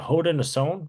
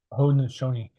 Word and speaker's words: Haudenosaunee: Is it the Haudenosaunee, right? That's how you pronounce it. Haudenosaunee.